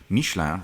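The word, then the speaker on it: Michelin: and BBS wheels wearing I'll say it properly since it's a French car mishan rubber in total the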